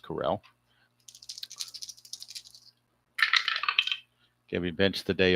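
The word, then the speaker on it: Correll: And that brings up the catcher Vic Carell or Coral. I think it's pronounced Carell.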